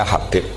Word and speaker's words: Habib: Itu ada yang nulis Hubab. Yang benar, oh enggak, yang benar itu bacanya Habib.